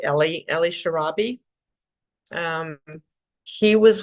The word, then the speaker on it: Eli: um his name is in English would pronounce it Eli they said it Ellie Ellie sharabi um he